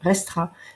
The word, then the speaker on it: restera: On ne prononce pas le E de la terminaison d'un infinitif quand on le met dans le futur simple, restera.